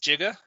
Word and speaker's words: giga: teraflops by the way si prefix g is actually supposed to be pronounced jiga jigajiga but in computing